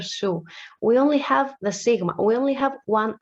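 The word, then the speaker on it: σίγμα: s this one so most people uh tr when we read that in greek they say z caro they call it like a zeta so like the z but it's not a z basically it's a pure su so in greek is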